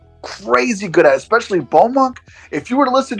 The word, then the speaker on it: Beaumonk: Beaumonk. So it's a BAUXMONK. That's how you say it, all one word.